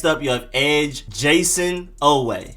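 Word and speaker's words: Oweh: you have edge jason away literally just oh way jason away next up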